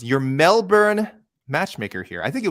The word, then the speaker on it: Melbourne: joe young our last email he says your melbourne matchmaker here i think it was joe who